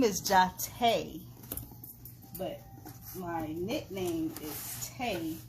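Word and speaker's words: Jotta: a little girl go figure my name is jate it's spelled j-o-t-t-a and when i was a little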